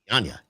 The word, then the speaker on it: Dianña: Well, Now, Skip couldn't pronounce it, and I told him it's like lasagna. Yeah, so it's Dianña.